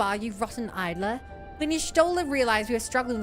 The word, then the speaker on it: Y'shtola: Do you know that I said Y'shtola's name wrong for until almost the end of Heavensward? Nice. I called her Y'sholta. Y'sholta. Y'sholta. Your shoulder. Yeah, I didn't realize it was Y'shtola.